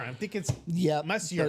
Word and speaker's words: Messier: Messier. It's Mark Messier. It's Marcier. You're right. Messier. Um I always get his name his last name. I always say his last name wrong because again I see how I read it how I see it.